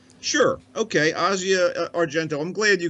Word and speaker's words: Asia: move books it's breezy it's pronounced Asya sure okay Asya are gentle I'm glad